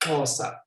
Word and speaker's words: Xhosa: Yeah, it's pronounced Xhosa.